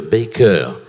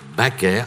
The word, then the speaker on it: Baker: il faut prononcer c'est Baker et là ma mère l'a repris en disant non je préfère à la française donc je préfère qu'on m'appelle madame baaker à la française parce